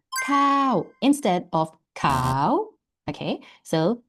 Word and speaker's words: ข้าว: In Thai, it is cow.